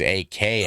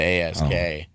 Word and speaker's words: ask: They think it's AKS Oh, instead of ASK.